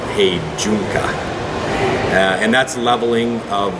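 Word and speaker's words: heijunka: build to the customer demand and we follow Hy junka which is actually pronounced he junka uh and that's leveling of volume and variety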